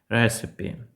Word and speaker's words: recipe: для приготування будь-яких страв в англійському ми вимовляємо це слово recipe Так саме rep я